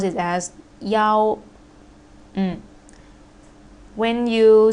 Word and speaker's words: 幺: Next one, last case of E, we pronounce it as Yao. When you say about the number of password, Wi-Fi password, or your telephone number, we don't say E, we say Yao.